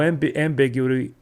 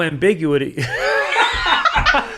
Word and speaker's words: ambiguity: initiative with a girl so that there's no ambiguity. Thank you. Yeah. Put the emphasis on the wrong syllable. There's no ambiguity.